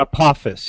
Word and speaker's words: Apophis: Paul you might know this is it maybe pronouncing this asteroid and Apophis Papa's now Apophis yes Apophis is the most scary one and